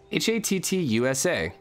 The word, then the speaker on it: Hattusa: did not know that where's the pronunciation how hot at hot sue ha - sua ha ha - sua pronunciation you guys can't see anything I'm doing right now here here we go ha ha - saw tattoos hats you saw so then hut hut - saw hattusa alright that was your educational